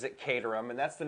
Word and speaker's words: Caterham: Richard Hammond was doing a thing on the katarum and clearly he pronounces it catam and that's the name of a a City